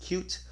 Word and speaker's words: Qt: Gnome toolkit and there's QT sometimes pronounced cute however their licenses are